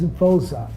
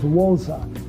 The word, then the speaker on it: Voza: had a white director my name is vza V for v o zaa the show that I saw was wza w o zaa and South Africans when they pronounce v it's like w so they thought that